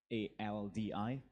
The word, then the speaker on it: Aldi: That's ALDI, pronounced Aldi, right?